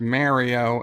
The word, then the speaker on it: Mario: him constructive criticism that the name is pronounced mario anybody named mario can tell you their name is mario their mother didn't call